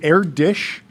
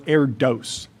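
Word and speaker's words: Erdős: Is it AirDish or AirDose? I believe it's AirDosh. AirDosh problem. The two dots over the O get me on the pronunciation without a scaffold.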